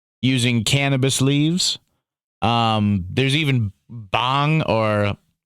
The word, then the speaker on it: bhang: They used bhang, which is an edible preparation using cannabis leaves. There's even bhang or it's spelled B-H-A-N-G, bhang.